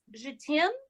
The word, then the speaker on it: JETAIME: I heard it's pronounced Je t'aime.